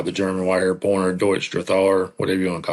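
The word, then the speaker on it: Drahthaar: if you try to pronounce it in German, it's Drathar.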